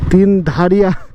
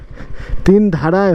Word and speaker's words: Tindharay: আমি তিন ধারিয়া তিন ধারিয়া বলছিলাম। আমি প্রথমে তোমাদের বলছি যে আমার এই উচ্চারণটার মধ্যে একটু গড়বড় হতে পারে। বাট আমি সিওর ছিলাম না যে তিন ধারিয়া বলে না তিন ধারায় বলে।